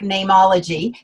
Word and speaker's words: Neimology: i could not trademark nameology because you can't trademark a common word like name and so my dad said spell it like the latin so it's n n-e-i-m and just call it name ology and then we could